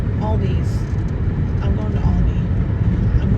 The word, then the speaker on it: Aldi: Yeah, not Aldi's with an S. I know I pronounced it wrong. That is a great commercial for them, though. It's not Aldi's. It's Aldi. Oh, there's a fan.